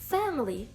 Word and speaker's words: family: Або, наприклад, family. Family. У нас наголос також на перший склад, але далі ідуть такі, далі йде звук шва. Fam, family, family. Family. Не family, а family. Family. До речі, також це слово часто скорочується до просто до family. Family. Ви можете почути і таку версію family. Family.